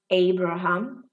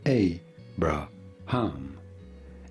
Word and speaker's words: Abraham: pronouncing his name abraham a brah ham abraham okay abraham now here